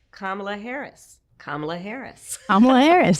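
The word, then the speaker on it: Kamala: I was saying Camela. It's Kamla.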